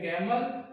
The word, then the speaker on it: gamble: भी B silent है और इसमें भी बी साइलेंट है। ये है प्लमर, ये है गैमल और ये है थम।